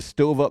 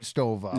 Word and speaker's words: stove up: Uh, the stove up mailbox plate from the plow driver. Yeah, you got to say it right. It's not just stove up. is right stova.